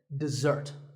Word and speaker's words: dessert: with a Z sound we stress the second syllable dessert this word refers to